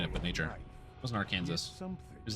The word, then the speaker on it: Arkansas: Well, my understanding is that it's Arkansas because it's not specifically pronounced in English. That's not the English pronunciation of it. Like, if you were in English, it would be Arkansas, but it's not English.